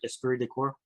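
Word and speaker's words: esprit de corps: Did I pronounce that right? Aspir decor.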